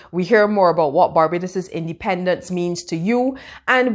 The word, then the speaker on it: Barbados: Remember that true Bajans don't live in Barbados, they live in Barbados. Learn this pronunciation.